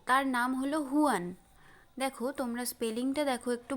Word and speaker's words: Juan: তোমরা আমার সাথে প্রোনাউন্সিয়েশন করো, হুয়ান।